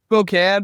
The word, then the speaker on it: Spokane: Spokane. But it's all good. I I'm just making sure I'm making my pronunciation right.